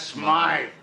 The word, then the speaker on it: Smythe: Smith is closing up his shop. That's Smythe. There you got it. That creep called him Smythe. He knew how to pronounce his name.